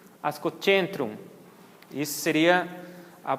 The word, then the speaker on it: Ascocentrum: Então, a letra C, antes da vogal E e I, tem o som de TCH. Então, o que a gente conhece como ascocentrum, ascocentrum.